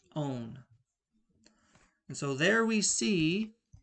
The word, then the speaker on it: -one: It's not pronounced one, it's pronounced -one.